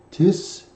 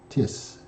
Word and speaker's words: τίς: And the first word is tis. And notice that there is an accent on the second letter of the word, the iota, and that's very important.